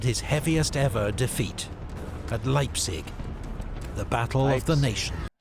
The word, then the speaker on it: Leipzig: heaviest ever defeat at Leipzig the battle of the nation okay Leipzig I think I've been pronouncing it leap City this whole time so now I'm correcting myself Leipzig Leipzig one of these